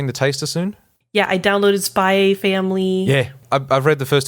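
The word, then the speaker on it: SPY×FAMILY: It says Spy Family. So you don't pronounce the X.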